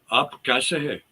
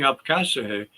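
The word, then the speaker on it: आप कैसे हैं: in Punjabi or Hindi, you say "Aap kaise hai," Mm. and that's the way you say it, "Aap kaise hai." But some people who come from India come over here and they don't pronounce it right, and I've heard some people say something to me, and I said, "What? What did you say? I don't understand you." And they're saying "Apkasehe," but they don't pronounce it properly.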